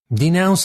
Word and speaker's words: denounce: Denounce is spelled D-E-N-O-U-N-C-E and is pronounced denounce.